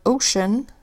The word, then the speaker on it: ocean: and over here in the word Ocean Cee makes the SH sound for ocean so those are exceptions